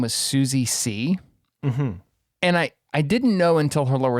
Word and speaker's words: See: But when they first introduced her, they said her name was Susie C. And I didn't know until her lower third came up that her last name is spelled S-E-E, like the word C.